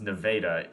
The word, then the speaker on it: Nevada: a few times and yes it's pronounced Nevada Texas just like El Dorado